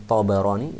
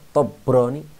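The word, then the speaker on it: الطبراني: Rawahu Tabarani, diriwayatkan oleh Tabarani. Ya, ini jangan lupa baknya di fathah karena banyak orang yang salah paham, salah baca ya, dia membaca Tabrani. Kalau Tabrani orang Jawa ya, kalau orang Arab Tabarani karena asalnya dari Tabariyah.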